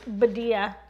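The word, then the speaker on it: Badia: as seen on tv badea formerly rhymes with medea rhymes with media and then we gingerbread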